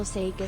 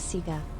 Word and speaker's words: Sega: No official Sega system says Sega. Official Sega of Australia pronounce it Sega.